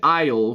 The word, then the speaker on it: aisle: Again, coming with the silent letters in English, it can be tough, but it's a good English practice. Aisle. Not iron.